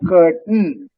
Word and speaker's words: curtain: So, and the AI is almost silent. So, curtain. A is not pronounced. C-U-R-T-A. A is not pronounced. Curtain. Even I is Valluvam soft pronounced. But curtain. Curtain. So A is not pronounced. I is pronounced very softly.